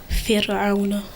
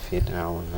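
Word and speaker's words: فرعون: Why is it empty mouth? Because the letter before it has a kasra on it.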